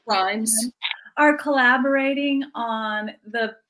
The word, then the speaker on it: Rhimes: I love that, like, Julia Quinn and Shonda right, how do you pronounce her last name? Rhimes.